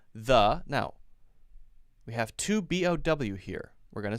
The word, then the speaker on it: Bo: So B-O, the word B-O, that's a name, someone's name. That's pronounced bow, same pronunciation.